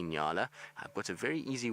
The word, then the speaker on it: Nyala: If you're in America, then you just need to remember New York and L.A. N-Y-A-L-A. And then you say Nyala.